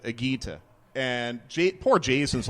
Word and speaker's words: Higuita: And for some reason, I thought it was Igita instead of Agita.